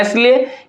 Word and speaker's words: aisle: 4 में देखिए लिखा हुआ है AISLE, इसको हम लोग, इसमें क्या लिखा हुआ? इसको हम लोग पढ़ते हैं एसले, ये में क्या होता है? एस हमारा क्या होता है? इसमें साइलेंट होता है, इसमें एस क्या साइलेंट है।